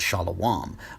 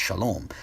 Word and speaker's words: Shalom: there however being that he thinks the word is actually pronounced Shah Alam I'm guessing that part of his intention at the time was rooted in his assumption that the word is not and cannot be pronounced Shalom so I think this